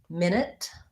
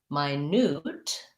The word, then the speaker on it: minute: has another related question about words like um minute and minute so minute the noun has first syllable stress minute and it sounds same vowel in both so like min minute minute my newt um the adjective sounds more like um it